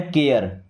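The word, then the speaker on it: care: अब देखिएगा जैसे सी ए आर ई तो इसे पढ़ना है केयर। क्या पढ़ेंगे? केयर।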